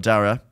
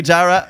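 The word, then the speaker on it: Darragh: Like, but my little sister Ellie and her husband Kenny had a beautiful little baby boy called Dara.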